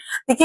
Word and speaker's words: the: तो हमेशा consonant sound के पहले जब टी एच लिखा रहे तो हमें द का प्रोनाउंसिएशन करना है। तो ये द यूनिवर्सिटी हो जाएगा।